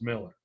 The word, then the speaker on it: Mueller: looks at it and it's actually the Dutch pronunciation which is Miller I purposely wrote your